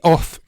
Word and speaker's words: OFRF: And now OFF is spelt like this, OFRF, so I'm not quite sure how they get that pronunciation from it, but that's apparently what the company is called.